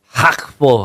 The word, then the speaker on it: Gakpo: kodi gakpo lu tahu gakpo itu kalau pronunciation Belanda Ternyata bacanya kayak hakf atau gimana gitu hakf hak jadi gitu depannya tapi kita gakpo aja